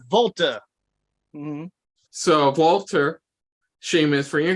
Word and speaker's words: Walter: name that's my name you're not even saying it right it's Volta so Walter Sheamus for